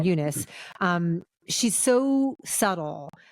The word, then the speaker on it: Eunice: And then you say Fernanda Torres is Eunice is how they pronounce her name, Eunice.